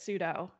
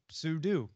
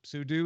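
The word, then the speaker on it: sudo: Robert cogs hall says it's meant for super user do you should say sue do so in this case axon ruled sue do sue do is the proper pronunciation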